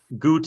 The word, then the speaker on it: Ghuut: Goot is spelled Ghuut.